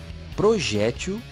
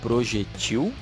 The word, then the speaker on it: projétil: Algumas delas são acróbata ou acrobata, xerox ou xerox, réptil ou repetiu, zangão ou zangão, projétil ou projetil, boêmia ou boemia.